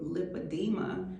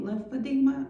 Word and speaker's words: lipedema: And they would say, "Oh, you mean lympadeema?" I said, "No, lipadeema." And I would have to spell it cuz I've been diagnosed with lipadeema. Lympadeema. Lip edema. Like edema.